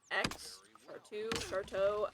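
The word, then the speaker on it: Chartreux: Charteau. I don't know how to say it. I'm pretty sure the X is silent.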